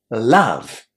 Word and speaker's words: love: There is a surprising group of words in English. Words that are very common like some, come, done, and love. Where the letter O is pronounced as a short A.